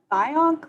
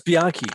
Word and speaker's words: Bianchi: Was it once called the Bionk letter? Bianke? Oh, that's Bianchi. Yeah.